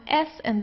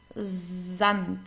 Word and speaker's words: Sand: You pronounce the S like in the English Z. So it's dand zant. Okay. So it's not sand, it's zant.